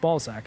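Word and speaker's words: Balzac: But uh the lead antagonist, Ballzac, is quite good. And that's spelled B A L Z A C.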